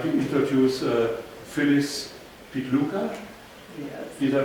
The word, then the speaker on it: Phyllis Pitluga: And I would like to introduce Phyllis Pitluga. yes. Did I pronounce it correctly?